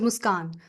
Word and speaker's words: Muskan: is very different like my name is musan so musan anyone can pron pronounce that you know yeah musan